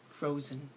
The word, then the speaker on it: frozen: next word frozen frozen think about how many syllables are in frozen to write two there's two syllables in frozen so think about which one is the lazier part fro or Zen frozen it's the second part frozen frozen this is